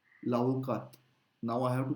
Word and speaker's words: l'avocat: L'avocat, I'm skipping the T in the masculine version. L'avocat, l'avocat.